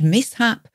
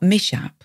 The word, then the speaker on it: mishap: i h a p notice it's pronounced mishap not mishap then it means an